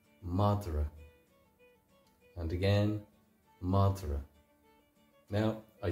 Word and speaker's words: madra: for dog is m madra and again madra now I speak the monster dialect of Irish we're saying madra there's what's called an epenthetic vowel in there where m a d